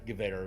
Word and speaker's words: Gewehr: always say we always say Jewer, but yeah, Gewehr would be. Gewehr. How you say it.